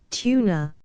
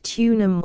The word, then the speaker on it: Tuna: Tuna, often pronounced tunum or tunas, Pseudocedrilla kochii, harms.